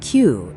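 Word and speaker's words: きゅう: Nine becomes kyu instead of ku.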